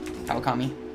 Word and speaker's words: Kawakami: You got the first name right, but you slightly butchered Kawakami. Kawakami.